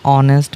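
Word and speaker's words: honest: অ্যান অনেস্ট ম্যান, এইসের উচ্চারণ হবে না।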